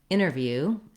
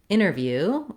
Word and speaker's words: interview: So you probably noticed when I said interview the first time that I didn't say interview. I didn't use that T sound.